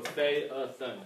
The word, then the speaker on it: Phaethon: One of the ways you pronounce ancient Greek names is you want to hit all the vowel sounds. So Phaethon, and a lot of the vowel sounds are going to be long, even though they're double.